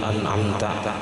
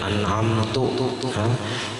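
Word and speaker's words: أنعمت: daripada kalimat Fatihah tadi, qadhammita an'amta au kasriha, seperti mendomahkan tak dari kalimat an'amta, dibacanya an'amtu. Siratal ladzina an'amta, dibacanya siratal ladzina an'amtu. Salah jadinya, maknanya pun berubah, asalnya engkau jadi aku. Au kasriha, atau dibacanya kasrah. Khitab kepada perempuan, an'amti.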